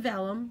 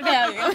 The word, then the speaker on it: vellum: So this it's a piece of vellum, right? Yeah. Is that how you say it? Yeah. I always say Valium. It's not Valium.